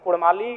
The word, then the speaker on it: काड़ा: लीजिए कि उनमें व अगर उच्चारण भी करेंगे ना तो वो कारा कहेंगे भेरा कहेंगे भेड़ा नहीं बोल पाएंगे तो कोई जो भाषा